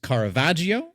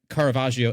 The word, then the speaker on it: Caravaggio: This is a technique which a famous artist Carvajio, if I'm pronouncing that correct, Michelangelo Carvajio as well as